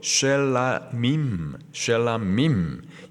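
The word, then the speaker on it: שלמים: 이 화목제는 히브리어 발음으로 쉘라밈, 영어로는 peace offering.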